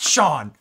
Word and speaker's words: Shion: good good Lee Shion I like this pronounced Sean uh Sean they were